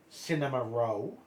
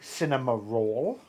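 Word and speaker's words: Cinnamoroll: Then this is how you actually Yeah, this is actually how they uh pronounce his uh name is actually cinema row but the uh uh western uh one is actually cinema roll.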